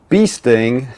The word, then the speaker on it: Beasting: So, Johnny and Lee Beasting, I learned that's actually how you're supposed to say his name, Beasting.